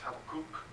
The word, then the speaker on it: Habakkuk: I taught a Bible study through the book of Habakkuk, or properly pronounced Habakkuk, on Tuesday nights.